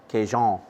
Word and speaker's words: Cajun: salt pepper a little Cajun rub Kazon if you wanna say it pronounce it properly hey mr.